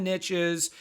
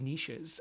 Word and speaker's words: niches: You've heard the expression, riches are in the niches, even though I think the proper pronunciation is niches.